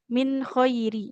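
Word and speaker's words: مِنْ خَيْرٍ: Di sini ya wa ma taf'alu min khairi. Jadi gak boleh min, kalau nun sukun bertemu kho itu dibaca nunnya jelas ya, tidak ikhfa.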